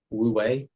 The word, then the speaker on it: wu wei: Woo wei, Wei, woo wei. How do you spell it?